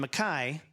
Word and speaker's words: MacKaye: Ian MacKaye, and I pronounce it that way because Henry Rollins pronounces it that way, Ian MacKaye was